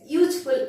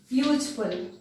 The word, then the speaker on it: useful: For example, if we will say the cow dash useful animal, useful. Here U is not pronounced as a U. U is pronounced as YU. So Y is not a vowel sound. It is a consonant sound.